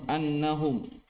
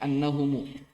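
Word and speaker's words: أنهمُ: Lil Mustafa khairu sahbin nassan annahum, bacanya annahumu. Lil Mustafa khairu sahbin nassan annahumu fi jannatil khuldi.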